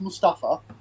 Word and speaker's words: Mustafa: It should be pronounced Mustafa. Right. Or Mustafa.